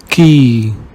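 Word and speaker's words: qui: Whenever you see QU, pronounce it like ka in the English word cat. Kel means which. Bank means bank. Ki means who.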